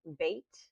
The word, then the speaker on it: bayt: This will always be the B sound, as in boy in English. That's spelled BAYT, bait. Not a V, not a V like a vine, but a B like boy.